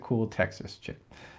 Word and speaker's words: CoolTXChick: Okay, and yeah, you're on Twitter at CoolTXChick, but you pronounce it Cool Texas Chick.